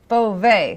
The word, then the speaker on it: Beauvais: No way, Beauvais. That's no way, how you Jose remember. Beauvais. Oh, I forgot the Jose. That's my friction-free mnemonic to help people understand how to pronounce my name.